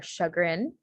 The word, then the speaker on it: chagrin: Yeah, for more French examples, the sh sound is spelled with a CH in French. So instead of using an SH, it's usually spelled with a CH. So examples of this are chagrin, chaise, and champagne.